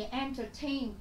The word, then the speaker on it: entertain: Entertain. Trọng âm của chúng ta cũng sẽ rơi âm tiết thứ ba.